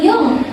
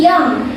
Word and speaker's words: young: Nah, ini bacanya bukan yung tapi yang terkadang orang Indonesia tuh bacanya tuh yang kayak I'm younger eh I'm younger than you gitu kan biasanya.